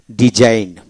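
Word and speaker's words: design: এখন আসেন জি সাইলেন্ট যেমন ডিজাইন টি এস আই এন ডিজাইন জি উচ্চারিত হবে না ডিজাইন যেন ফরেন ফরেন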